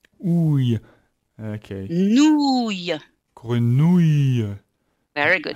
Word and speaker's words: grenouille: So you have to remember you're not going to have any E sound. The E is going to be part of your ya. So it's really the sound ouille, Ouille. Okay. nouille. Grenouille.